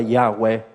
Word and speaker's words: Yahweh: Y la palabra Jehová, esa palabra hebrea que no tiene las vocales, solamente consonantes, las vocales fueron agregadas para poder pronunciar la palabra Yahweh. Sin las vocales, es el sonido que hacemos cuando respiramos.